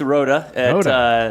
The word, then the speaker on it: Rooda: So it's Rooda.